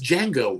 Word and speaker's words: Django: Salad King says Django 1. The D is silent.